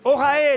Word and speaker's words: Orae: Parce que ça reste énigmatique quand on ne sait pas ce que veut dire Vous Orae. l'avez bien prononcé tout à l'heure.